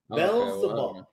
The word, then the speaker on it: Beelzebub: Beelzebub is how you say it. Beelzebub. So think of it like Bell, right? Yeah. No, Bell and then Zebub.